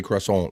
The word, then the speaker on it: croissant: C cant I like so you got to say it like that too I I can't say Crescent or nothing like that it's cant right cant but it's probably still not probably still not French enough for those snoody French people that